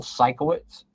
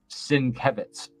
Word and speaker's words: Sienkiewicz: For years, I called Bill, this one artist, Bill Sikowitz, but it's Sienkiewicz.